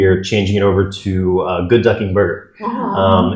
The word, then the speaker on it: Good Ducking Burger: And we are changing it over to Good Ducking Burger. It's funny, you said your bakery Okay, is you're saying it wrong. Good Ducking Burger? Yes. Okay. The emphasis is on ducking.